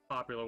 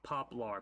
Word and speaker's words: poplar: as well also get some of this uh popular wood one of my favorite uh little monsters